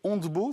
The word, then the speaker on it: Ontbo: d'être avec nous vous êtes là fondatrice de handbow c'est comme ça qu'on prononce absolument très bien alors expliquez-nous parce que